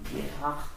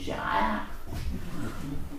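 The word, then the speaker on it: Gerard: On prononce plutôt Gerhard, mais enfin, je connais pas l'accent flamand. En français, on dit Gérard.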